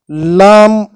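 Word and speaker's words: لام: words kite neck nickel Lam corresponds to the letter L in English and it is articulated exactly the same way as the sound Le in these English words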